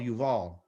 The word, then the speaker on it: Yuval: is they call Jubilee, but it's called Yuval, okay? I'll put the B there because it really is, that's what it's spelled out, but it's supposed to be, the sound of it is U, Y, U, and then a V, and then an A, and then an L, okay?